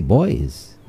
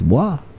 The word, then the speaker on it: bois: a t they'll say boys not understanding that Bois is a derivative is from franch you know so they'll say boys no it's boah there lots of different